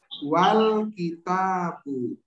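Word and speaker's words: والكتاب: Tapi kalau ada wa, bacanya apa? Wal kitab. Wal kitabu. Ha. Al hamzah wasol ini nggak dianggap. Sebab apa? Sebab ada huruf berharokat sebelumnya.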